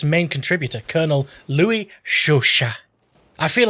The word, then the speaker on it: Chauchat: pronounce this one this time that it's it's pronounced shush shush shush shush noty at the end as